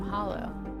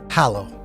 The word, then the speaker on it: Hallow: So why did you take the name Hollow? Hallow. Hallow. Like the hallowed halls.